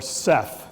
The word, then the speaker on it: Seth: the same time is the god Set or Seth they're two different pronunciations depending upon which part of Egypt you're living in Seth